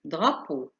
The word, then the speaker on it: drapeau: تركيبة الثلاث حروف الآتية EAU تعطي صوت O كما في drapeau.